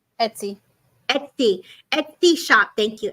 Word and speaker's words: Etsy: shop where you could buy stuff is it ety am I saying it right Etsy Etsy Etsy shop thank you Erica so they're